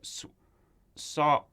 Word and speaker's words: Sawalha: of, I don't want to get her last name wrong, Julia Sawala? Yep. I don't want to get that wrong. All respect to Julia Sawalha, because she re-recorded her original lines from Chicken Run, and they were perfect.